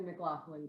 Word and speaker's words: McLaughlin: so and just for my own, am I pronouncing it right? Is it McLaughlin? Is it McLaughlin? Yes, like the McLaughlin group.